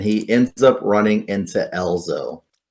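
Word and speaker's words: Ezlo: ends up running into Elzo. I think it's Alzo. Anyways, however you want to pronounce it, ELZO.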